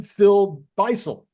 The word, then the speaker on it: Phil Beisel: this crowd for the first time Phil Beisel, Sir. and I'm not even sure I put the syllable what do you call it, the emphasis on the right Emphasis. syllable. I think you got it right.